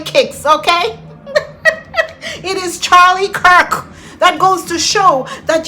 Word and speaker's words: Kirk: pronounce the man name, he's not Charlie Kicks who said D was a teacher. Who said D was a teacher? Because even when she saw someone post the name and said it's Charlie Kirk, she couldn't pronounce Kirk. She kept saying Charlie kicks.